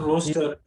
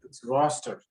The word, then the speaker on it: roster: because he always puts not roaster roster roster roaster is like something we roast things on like roasting chicken and